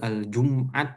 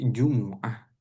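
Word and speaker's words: الجمعة: Jadi bukan Aljumat mimnya tidak sukun tapi jumuah. Ya, jumuah.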